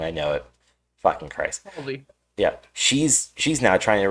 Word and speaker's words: Halsey: You have Halsey Hazley. I'm saying her name wrong. I know it. Fucking Christ. Halsey.